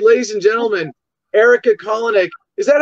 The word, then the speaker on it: Kolenich: All right, ladies and gentlemen, Erika Kolenich. Is that how you say your last name? Very close. It's Kolenich. Kolenich. Okay. No, I have a similar challenge. The problem is when people mispronounce my last name, it can sound lewd very easily.